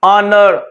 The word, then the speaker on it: honor: Some words do not pronounce the sound of H, जो ignore ही कर देते हैं। Example है सर honor, honesty, hour.